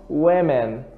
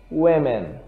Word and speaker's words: women: Aqui eu tenho woman, woman, e aqui eu tenho women, ok?